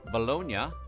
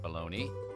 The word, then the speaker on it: Bologna: In Italy, bolognia, not pronounced bologna, is primarily there's a baloney Italy.